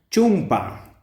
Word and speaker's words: chumpa: se pronuncia chulo tenemos chumpa chumpa Bueno Este esta esta palabra pues viene de Castellano no de chompa pero la vocal o Recuerden que en la escritura no existe por lo tanto tenemos